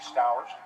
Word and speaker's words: Stowers: Actually, it rhymes with flowers, so it'd be Stowers.